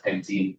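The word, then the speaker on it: pentyne: except we say so instead of one pentine it's one pentine. Um, and I think they used the Y to make it explicitly clear that it's not pronounced the same as E. So they used an I, you could really easily say phonetically that that's pentine also. So for whatever reason, it's pentine with a Y.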